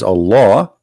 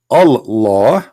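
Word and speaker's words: الله: says al hamdu lillahi laughs the first one pronounced as a law the second one it says Lee laughs okay so what we have now let us make it simple here we have all law in the first verse and in the second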